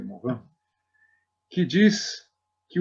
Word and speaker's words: Morin: Pois existe um antropólogo e sociólogo francês chamado Edgar Morin, se escreve Morin, assim fala, se pronuncia Morin, que diz que o Brasil é o país da solidariedade, já desponta como o líder mundial da solidariedade.